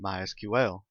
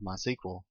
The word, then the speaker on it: MySQL: As you can tell, I've been calling it MySQL. That is the correct pronunciation. However, it is also commonly called MySQL.